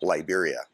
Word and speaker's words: Liberia: Now, the North American pronunciation is Liberia.